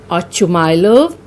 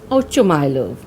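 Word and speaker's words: Ochumelov: Now this is a Russian name and the pronunciation can vary. Some call this Ochumylov or Oshumylov. I'll be pronouncing it as Ochumylov.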